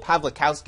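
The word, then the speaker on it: Pawlikowski: best foreign film uh pavl pavlowsky is how I think you pronounce it wow uh just went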